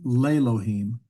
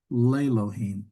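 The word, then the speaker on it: לֵאלֹהִים: We have Elohim, but if we put a preposition and something is to God, it's Lelohim, Lelohim. So it actually changes the way we pronounce the name.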